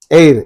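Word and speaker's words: heir: comes a is there air in this H silent we are pronouncing the word from e e is giving a word V sound and that's why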